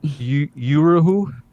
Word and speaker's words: Uhuru: FBI prosecuting the, am I saying this right, Uruhu movement for having Zoom meetings with a Russian? Because that seems completely undemocratic and anti-speech. Can you pronounce it again, or what was this question? Yeah. Uruhu, U-H-U-R-U.